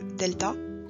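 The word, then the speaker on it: δέλτα: quatrième lettre c'est le delta delta se prononce comme un des français pareil deux écritures assez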